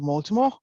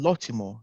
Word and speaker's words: Lottimore: good morning mr baltimore um uh welcome to uh the interview today uh apologies i think i pronounced your name wrong is mr lotimo apologist right so welcome to today's interviews and